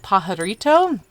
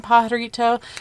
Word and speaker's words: Pajarito: They actually were originally going to name this plateau Pajarito, which stands for Rising of the Land, but they were also afraid that Anglo-Americans would not be able to pronounce the silent J in Pajarito, so that's how they decided to name it Bandelier.